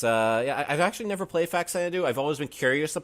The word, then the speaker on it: Faxanadu: I think I used to call it as a kid Faxanandu. I think that's right. Well, I never got pronunciation right anyway. Da-da-da. But I just I was it looked like Faxanadu.